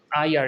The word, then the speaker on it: heir: permissible for the heir, HEIR, এটা উচ্চারণ হচ্ছে heir, এটার মানে হচ্ছে উত্তরাধিকার,